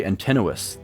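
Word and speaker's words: Antinous: gods are, the most monstrous character is clearly Antennuis, the suitor. The things he wants to do are Oh, that's how you say his name. Antennuis.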